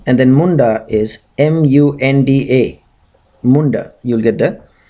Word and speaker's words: Munda: you'll get the pronunciation and then Munda is m u n d a Munda you'll get the pronunciation so than Raba she is described in